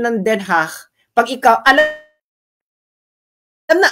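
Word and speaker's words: Den Haag: feeling nila sila 'yung talagang DCH so yang pronunciation ng den ha pag ikaw alam alam na alam mo kung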